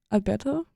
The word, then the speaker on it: Alberto: today I'm joined by Alto is like how is that how you pronounce the last name yes can you please introduce